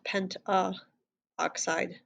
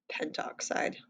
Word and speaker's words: pentoxide: penta oxide so pentoxide whenever there's kind of two syllables you drop the part here so not penta oxide pentoxide all right here tetraphosphorus